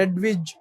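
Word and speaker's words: Hedwig: tube पेटली की अरे हेडविग हे नाव आपण मुळात तो जर्मन शब्द आहे एडविच असं त्याच उच्चारण आहे एडविच एडविच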